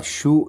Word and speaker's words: Sioux: Sioux in realtà si scrive Sioux, ma si legge Sioux, sarebbe in realtà una contrazione del nome che i nemici davano a questo popolo.